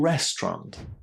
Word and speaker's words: restaurant: hard for students because with all the letters inside this word, you would think that there are more syllables and that it's somehow necessary to pronounce all of these letters. But no, this is English and there are no such rules. Restaurant, just two syllables.